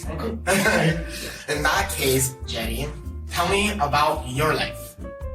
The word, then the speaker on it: Jeannie: I also have to start to say that it's actually pronounced Jenny.